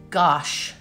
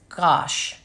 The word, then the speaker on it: gouache: And that's the liquid gouache. I guess you can get the dry gouache or the liquid gouache. Or G-W-A-S-H pronounced. Okay, gouache. That's right, it's like squash, but it's gouache.